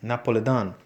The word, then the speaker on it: Napoli: Napolitano and from Naples she pronounced it Napoli Don my father who was